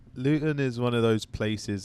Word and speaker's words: Luton: Luton is how you pronounce it.